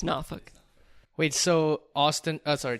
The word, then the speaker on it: Norfolk: to Northern Virginia but the growth of the Norfolk area especially in connection with the Navy and enrichment as well as it grows and pop how do you pronounce name of that city its Norfolk wait so Austin as our Texas is a